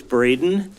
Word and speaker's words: Braden: Oh, I'm Braden. Sorry. Spelled with an E, pronounced with a long A.